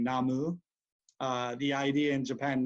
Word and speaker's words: Namu: respect to upholding so in most Buddhist traditions in Chinese you hear Namo the Japanese pronunciation being namu uh the idea in